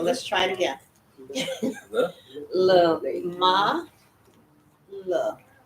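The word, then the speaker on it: למה: with the mem and the patak, so it's lama, Lama. lama. Uh-huh. And then we have another lamet with a ah sound, the a, A. la. Okay, so let's try it again. The. La, ma, la, a, la, lay, Le.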